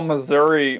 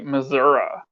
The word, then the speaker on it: Missouri: They also call Missouri Missouri.